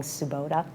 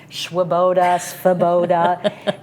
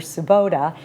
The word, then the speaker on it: Tsubota: is Japanese, yes, and it's got the TS, and people look at that and have a lot of trouble pronouncing Tsubota.